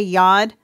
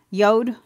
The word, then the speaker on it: yod: of ways some say yod but um Frank sein says it rhymes with mode yod so that's kind of